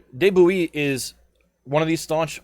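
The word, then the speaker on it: de Bouillé: last word right gilly it's b-o-u-i-l-l-e no david bowie no but de bouillee is one of these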